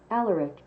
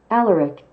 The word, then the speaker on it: Alaric: Alaric. Okay, so this is what Google says. Let me turn the volume up here. Here's what Google says. Alaric.